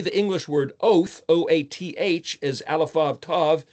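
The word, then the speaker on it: אות: sign, a symbol, an oath. It's pronounced oat if you give the phonetic T, tav, but the Ashkenazi use S, os, S for a tav. And some people use TH for tav.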